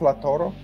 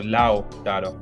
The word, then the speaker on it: Lautaro: Is it just Lautaro? No, you need to include the U. So Lautaro.